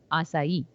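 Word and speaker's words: açaí: anyone hasn't heard it but it's spelled it's pronounced as asai okay so it's kind of um assai is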